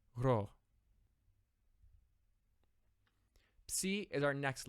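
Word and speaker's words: ψ: Like other sounds we have seen, this does exist in English, but it never occurs in the beginning of a syllable, unlike in Greek. So the sound is psi.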